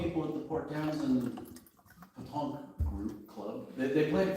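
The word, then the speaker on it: pétanque: It's Petanque. Don't forget the accent on the E. Petanque. Petanque. Just like it sounds, Colleen. Just like it sounds. Well, I was close. Accent on the first E.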